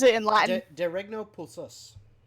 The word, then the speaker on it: Pulsus: De Regno Pulsus. The Regno Persus? Pulsus. P-U-L-S.